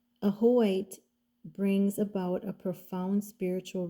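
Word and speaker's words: Ajoite: And then the next one that came out for both of you is the number 30, and it's pronounced Ahoite, compassionate being.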